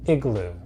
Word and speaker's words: Igloo: to take your lunch different places and it's pronounced igloo here thank you let's get our English let's